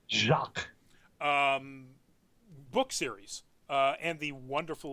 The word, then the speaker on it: Jacques: Cox Brian Cox Jaques it's not Jo X it's like the French Jacques book series and the